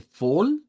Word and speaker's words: voll: Em, Luego nos dice full, es igual, otra que comienza con V que vamos a pronunciarla con F. Full, con una O corta.